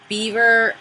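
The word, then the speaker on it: Biewer: It was called a beaver terrier. And it wasn't spelled beaver. It's spelled B-I-E-W-E-R. Beaver. But it's beaver. Like it's German?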